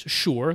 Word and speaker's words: Shure: to mind for me which is sure that's uh s-h-u-r-e is oh that's spelled but sure uh i would immediately